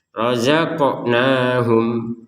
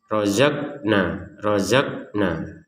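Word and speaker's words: رَزَقْنَاهُمْ: Khusus yang ada pantulan harus dipantulkan seperti qaf ini contohnya. Razaqnahum. Nah, memang harus dipantulkan. Jangan sekedar rozakna. Itu kan nggak ada pantulan, harus dipantulkan qafnya.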